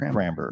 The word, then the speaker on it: Kramber: Kramber. Kramber. Yeah, that's right. Rhymes with Amber. Kramber.